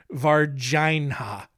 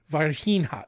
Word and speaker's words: Varginha: I'm pretty sure it is pronounced Varginha. Varginha.